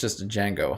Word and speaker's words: Django: it in some way the d is silent is it i actually never knew that so it's just a django huh okay nice thanks